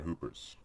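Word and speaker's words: Whooper: Hooper holler yeah and that's a silent W on hoopers you I did get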